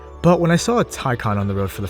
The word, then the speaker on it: Taycan: state-of-the-art batteries and fancy computers and yes it's pronounced tycon because if you say taken the sales person will just face pawn themselves